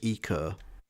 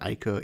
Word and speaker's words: Ico: I know Ico is pronounced Eco because that's how they pronounce it, but I've always called it Ico, even though I know I'm wrong.